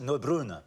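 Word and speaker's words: Neubronner: It's pronounced Neubrunner.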